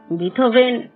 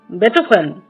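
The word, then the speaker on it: Beethoven: আমি এসব সুরকারদের রচনা শুনিনি বটে কিন্তু এদের নামের উচ্চারণগুলো অন্তত আমার জানা আছে কিন্তু আপনার নেই। কিরকম? হায়দান মসড বেটফান। এই হলো আসল উচ্চারণ হাইডন মোট সার বেটফ্রেন্ড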